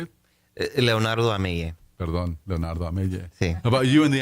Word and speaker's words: Leonardo Amell: Perdón, Leonardo Amell.